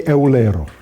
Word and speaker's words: Eulero: Yeah, not Euler, Euler. In English you say like that. That's the German pronunciation. Well, that's the German pronunciation, of course. In Italian they say Eulero, for instance.